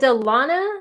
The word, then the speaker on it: Delana: so Delana is it Delana am I saying your name right it's Delano DeLana okay so if I call you Delaney you're gonna have to tell me Delana oh my gosh I've